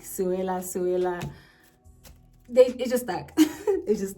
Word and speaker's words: Sewela: The first E is mute. So if I were to like break it down, I take it down from like 3 syllables to 2, right? So instead of saying Sewela, you're gonna say Sewela.